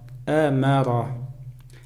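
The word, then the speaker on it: أَمَرَ: Амара. Алиф над алифом стоит хамза. Это как будто мы алиф не читаем, читаем только хамза.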